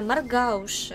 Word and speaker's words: Маргауши: А я произношу Маргауши, но я гуглила ударение, потому что я боюсь неправильно произнести. И, как говорит Википедия, правильно, Маргауши.